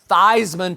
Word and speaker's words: Theismann: for a Heisman campaign he actually changed the pronunciation of his last name from season to Theismann to rhyme with Heisman so Joe did tend